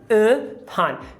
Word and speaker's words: upon: O primeiro em upon. Veja que só a palavra up é com carrot. Up. Mas agora, o up faz parte de uma sílaba átona, porque entrou outra sílaba. Então aqui é um schwa, upon.